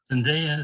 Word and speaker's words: Zendaya: Zendaya is how she says it.